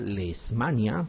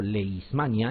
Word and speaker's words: Leishmania: nosotros uno es lismania algunos quieren pronunciar la manía o leishmania y no es así la pronunciación cortez leishmania la proteína es hay una h la leishmania y hay